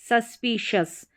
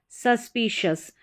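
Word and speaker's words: suspicious: है शस डिलीशियस डिलीशियस next यहां पर है एस यू एस सस इसको सस करके पढ़ा जाता है पी आई पी तो बन गया सस्पी और शस सस्पिशस सस्पिशस तो इस तरीके से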